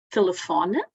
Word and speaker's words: telefone: Temos aqui um exemplo de uma palavra acentuada na penúltima sílaba, como telefone, não é? E na última sílaba, hotel.